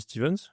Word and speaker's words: Stevens: Stevens, on dit Stevens Ouais, c'est ça. et All Sponsored. Ok. Ah, parce que des fois on prononce pas ou All Sponsored.